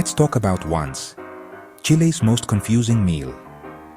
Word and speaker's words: once: Let's talk about once Chile's most confusing meal. Pronounced on it means 11 in Spanish, but it's eaten in the evening, not at 11:00.